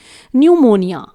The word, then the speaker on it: pneumonia: अब यहाँ पर आप देख पा रहे हैं स्टार्टिंग में ही P लेटर लगा हुआ है, लेकिन P को हम यहाँ पर प्रोनाउंस नहीं कर रहे हैं। ध्यान से सुनिए एक बार फिर से इसका प्रोनाउंसिएशन, न्यूमोनिया, न्यूमोनिया। देखिए यहाँ पर P बिल्कुल साइलेंट है।